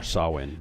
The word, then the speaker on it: Samhain: To the Druids, he is Samhain, lord of coldness and despair. Samhain was once a man like you or I, Or Sawin. but he This is insulted supposed to the be pronounced.